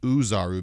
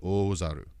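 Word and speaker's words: Ōzaru: thing is done when people see the word o zaru which is the great eight form in dragon ball they read it as uzaru because it can be written in uh romaji as o z a r u but it's supposed to be oh zaru so it's the same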